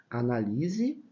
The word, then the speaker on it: analise: sílaba tônica o li quando eu coloco o acento eu transfiro a sílaba forte daqui para cá tá por isso que eu tenho análise analise que é o verbo e análise que é o substantivo A análise Olha a